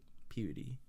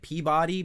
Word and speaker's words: Peabody: Salem, one part like Peabody, and it's spelled like Peabody, but it's said Peabody. Like, if you're from Massachusetts, you say Peabody.